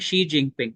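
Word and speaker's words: Xi Jinping: का नाम ही है एक्स आए बोलते हैं लेकिन उसको प्रोनाउंस करते हैं शी जिंग पिंग ये चाइना का प्रीमियर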